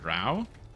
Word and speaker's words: drow: how you pronounce it is it pronounced Dro and not drow like are they called dro oh you're saying you're saying you have to type in d-r-o-w-e to get him to say drow instead of dro I'm picking up what